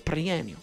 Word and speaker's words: Perenio: Perenio. Perenio, that's it. Why do I want to say it differently every time? Perenio. Well, that's technically how you say it.